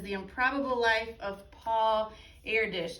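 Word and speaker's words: Erdős: life of paul airdish now if you look at the way that that's spelled it kind of looks like it's air dose or airdos but i'm pretty sure it's air dish i've heard that said from other people so that's what i'm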